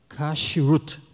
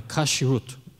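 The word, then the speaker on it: כשרות: hoje seguem se chama kut eu não sei essa pronúncia correta em hebraico é kashrut né então eles obedecem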